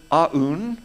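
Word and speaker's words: Aune: Don pronounces it Aun. I'm just going straight Un, makes it shorter and sweeter.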